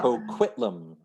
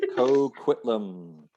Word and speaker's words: Coquitlam: It's pronounced Coquitlam. Oh my gosh. Coquitlam. Coquitlam.